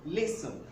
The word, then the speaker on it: listen: Most people usually mispronounce this word. Most people pronounce this as listen. Listen. No, it's not pronounced as listen, but it's pronounced as listen. Listen. So the T is silent in the pronunciation of this word.